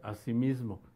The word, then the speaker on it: asimismo: La pueden emplear como una sola palabra y se pronuncia asimismo, asimismo, así como si pasaran el acento al final de la palabra como palabra grave.